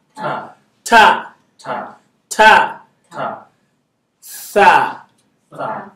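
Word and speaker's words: ث: So the top of your tongue, put it in between your teeth. Tha. Tha. Tha. Tha. Some people call it sa because it's hard for them to pronounce. It's okay. For beginners, it's fine. You get there. Is that okay? So some people say alif ba ta sa. Is that okay? It's alif ba ta tha.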